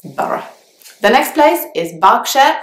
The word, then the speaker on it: Borough: Even though there are two O's in the word and there is a GH at the end, you actually only pronounce two syllables, Borough.